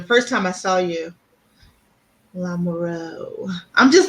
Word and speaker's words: Lamoureux: That if you see EAUX, that's O, long O. Oh, okay. That is okay. I was wrong. She spells it a little different. I think it would be pronounced about the same, probably.